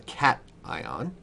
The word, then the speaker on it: cation: this a cat now it's not called cation it's called cat ion so remember to pronounce that because it's very important nothing says that you don't know what you're talking about more than when you mispronounce a word like cat ion okay cat ion the